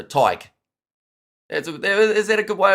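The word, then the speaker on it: Tadhg: Like tie, as in like a tie, and then g. So Tyke.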